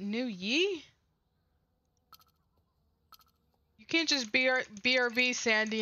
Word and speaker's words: Nguyen: The G is silent though. G is... Is it New Yi?